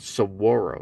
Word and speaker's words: saguaro: same height yeah nice saguaro right sug saguaro the g's always pronounced it's not pronounced at all it's silent so it's called saguaro that's the proper pronunciation